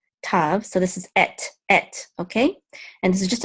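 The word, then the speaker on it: אֵת: So this is et, okay?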